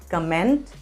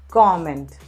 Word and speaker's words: comment: leave a comment yes it's not comment it's comment leave a comment what